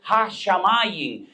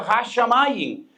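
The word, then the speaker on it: הַשָּׁמַיִם: Y ese concepto, esa palabra de cielos es ha-shamayim, y es la palabra fuego y la palabra agua, esh-maim, y la juntan con el artículo y pronuncian ha-shamayim.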